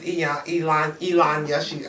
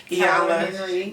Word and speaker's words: Iyanla: We have a life coach, which is Elanya. I don't know how to pronounce her name. Iyanla.